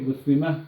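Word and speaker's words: مسلمة: If we're gonna just send it at the end without doing the ending, then we'll say muslima. Okay, muslima, because we don't pronounce it. You pronounce that time marbuta, pronounce it like a ha if you don't pronounce the ending, or if it's at the end of a sentence.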